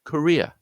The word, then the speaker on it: career: Let's say career, my career. The first syllable is, rather than the ko sound of courier, is the sound of a schwa.